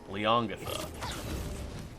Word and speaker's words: Leongatha: You have to pronounce it like slightly wrong. Leongatha.